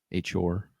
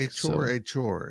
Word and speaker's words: Achor: Achor. Yes. I haven't heard it said out loud. I don't think Achor. It's been a point of issue for me how to pronounce it, but it is Achor.